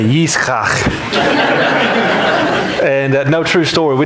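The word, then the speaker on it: יצחק: Isaac in Hebrew is actually Yitzchak. And so when I go to Chick-fil-A and they ask for a name on the order, I say Yitzchak.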